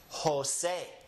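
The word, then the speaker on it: José: So anytime you see a word that starts with the letter J, remember that it is actually an H. That's why we have names like Jose. Jose starts with an H, right?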